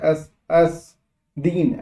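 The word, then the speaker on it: Aspdin: एस एस यहाँ पी जो है साइलेंट है, एस एस दीन, एस दीन बोलेंगे।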